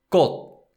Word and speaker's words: 꽃: But in Korean, the consonant sound stops and doesn't release. And so therefore we call it unreleased 디귿 sound.